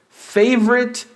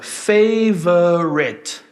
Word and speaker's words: favorite: Porque essa palavra, ela pode ser dita com 3 sílabas. Olha, favorite. Mas a gente também pode usar 2 sílabas nelas e falar favorite. Favorite.